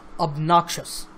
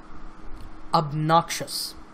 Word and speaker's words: obnoxious: syllables of noxious and the stress is on the second syllable so obnoxious obnoxious so listen to that